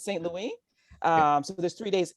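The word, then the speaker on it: Saint-Louis: in the city of saint louis excuse me i pronounced it like we do in the united states but it's st louie um so there's three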